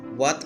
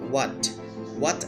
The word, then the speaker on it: what: আমরা যখন হোয়াটটা বলি, আমরা সময় এইচ উচ্চারণ করি, বাট যদি আমি এইচটা সাইলেন্ট রাখি, এটা সঠিক উচ্চারণ হবে হোয়াট অ্যাবাউট। আমরা এইচটা উচ্চারণ করছি না, হোয়াট about, হোয়াট about your family, হোয়াট about your study, হোয়াট about your business.